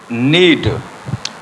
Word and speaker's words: knead: Word के start में, तो ये के जो है ये साइलेंट होगा, यानी KNEAD जो यहाँ के जो है ये साइलेंट है।